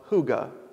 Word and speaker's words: hygge: book right now called the little book of hygge when it's spelled h-y-y-g-e it's a Danish word we might